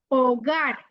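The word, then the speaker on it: hogar: ওগার। ওগার মানে কি? ঘর। ওগার, ও গার, দেখছেন? এইচটা কিন্তু খোলো না।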